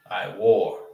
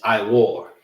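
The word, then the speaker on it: עור: I is pronounced by itself. I and you have war. I war. You understand? This is pronounced by itself. And these two are pronounced together.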